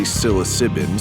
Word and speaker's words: psilocybin: our brand new seriously psilocybin seriously spelled with a P mega ether dark mega